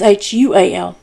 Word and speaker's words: Shual: And that's spelled the same way as Shaul. So Shaul is Shaul, and Shual is Shual.